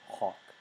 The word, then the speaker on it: hoc: nominative singular for neuter, which is a short O in Latin, which is like an aw sound, so it's hawk.